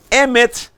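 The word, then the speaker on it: אמת: As palavras originais é Hesed, Emet, Sedek e Mishpat.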